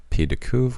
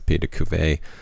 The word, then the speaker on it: pied de cuve: I do want to apologize for my pronunciation of Pied de Cuve, which I pronounce as Pied de Cuvée multiple times, so to the point that it's embarrassing.